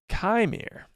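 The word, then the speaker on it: Qimir: this kir and yes kir is spelled q i m i r very strange I don't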